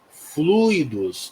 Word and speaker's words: fluidos: pronúncia aqui né gente a pronúncia é fluidos não é fluídos né Em alguns momentos